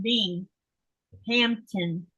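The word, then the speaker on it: Binghamton: am in Texas Robin says no and it's pronounced being Hampton North Miami sorry in Florida okay and Melissa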